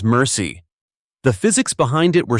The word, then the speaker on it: MRSI: Multiple rounds simultaneous impact, MRSI, pronounced by crews as mercy.